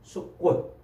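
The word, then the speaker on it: סוכות: 초막절 할 때 그 초막은 숫꽃, 히브리 말로 숫꽃이라고 이렇게 발음을 해요.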